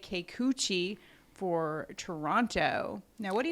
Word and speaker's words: Kikuchi: is boston going up against uh you say keikuchi for toronto now what do you like about